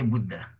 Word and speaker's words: Buddha: so to demonstrate this a we pronounce as in short a it means what a means hot hot a short hot H okay example the Buddha Buddha okay we say Buddha okay then then we